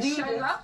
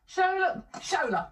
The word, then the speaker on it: Shola: Shola. It. Yeah. Mos.